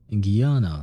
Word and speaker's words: Guiana: Guiana Space Center, Placid's Cosmodrome. Then, I found this place. Ah, so that's how you pronounce it in English. Guyana Space Center.